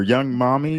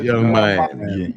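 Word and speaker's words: Yung Miami: Is this Young Miami or Young Mommy? How you Young pronounce that? Miami. It's Young Miami. Yeah, Young Miami. Enjoys golden showers. It's YUNG, but whatever.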